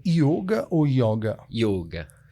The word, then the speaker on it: yoga: Por que yoga? Não tem acento, mas é yoga. Porque é o correto. A pronúncia correta então, em sânscrito. Para que todos saibam, yoga. Eu já sabia, porque eu pratico, mas é yoga, tá, gente, que se pronuncia.